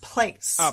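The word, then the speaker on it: plaice: The plies play the... Bass. Bass. Dan got that one again. No, I think I did actually. It's pronounced place.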